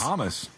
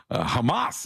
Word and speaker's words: Hamas: at each other's throats hamus unable who pronounces it that way Hamas is what I always heard but uh it's each their own all right you can do hamus if you want all we know is